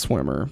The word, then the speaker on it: Schwimmer: I believe it's just pronounced Swimmer, but no relation to David Schwimmer.